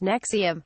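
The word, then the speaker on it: NXIVM: even branded the group an XIV M pronounced nexium based in Albany has operated across the u.s.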